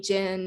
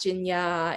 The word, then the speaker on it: Jin-Ya: would butcher it, from just calling me Jin and not Jin-Ya, and or Jin-Ya, and it's like, no, there's a U in there.